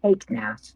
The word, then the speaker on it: Hagnath: Iganath Sirana. Your life is currently in danger. It's Hagnath, thank you very much.